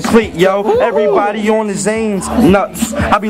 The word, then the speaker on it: Zane: Everybody wanna say my name's Zach, but it's Zane.